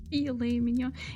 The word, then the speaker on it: filet mignon: Filet mignon. But still, you don't want to say it like that. Sounds right to me. Amateur. Filet mignon.